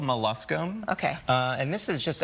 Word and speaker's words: molluscum: It's called molluscum.